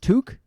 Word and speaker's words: toque: And if anyone wants to know what the first word in the title for this episode is, it's pronounced Toque.